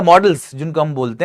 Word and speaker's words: modals: क्या होता है, यही मोडाल्स, जो कि मोडाल्स बोले जाते हैं जनरली, लेकिन इनको मोडाल्स गलत बोलना, मोडाल्स बोलना गलत है, इनका करेक्ट प्रोनाउंसिएशन है मॉडल्स, ठीक है।